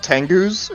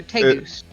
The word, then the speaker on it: tegu: Yeah, they're like, I think they're called tengus or something. They're like they're reptile dogs. They're literally trainable lizards. They're big too. Or I don't know how to say it. It's not like tengu. No, they're tegus.